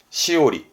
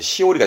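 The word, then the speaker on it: 枝折: 발음은 시오리입니다. 시오리. 예. 꺾다가 오르라서 오리 발음이 시오리가 된 건데 이렇게 됩니다.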